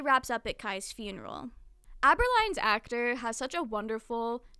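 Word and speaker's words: Abberline: a running gag that other characters always mispronounce aberline's name as agoline which is like your jawline I think in Japanese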